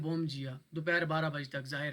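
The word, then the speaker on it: bom dia: Good morning को ये लोग कहते हैं बोम जिया।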